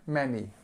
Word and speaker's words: many: it's a much and many e like men many many okay uh with